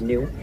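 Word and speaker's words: gnu: another name ins Swahili that name is spelled GN pronounced new they get that name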